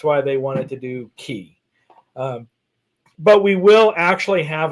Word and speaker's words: Celebration Key: Well, they pronounce it Key. K. That's because Carnival wants it to... K. Yeah, they want to call it Key, though, because it's the key to your vacation and your relaxation.